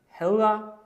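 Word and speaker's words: hedder: In pronunciation, ha is not pronounced with a clear d sound. It sounds more like h or ha. This is because Danish has a soft d sound.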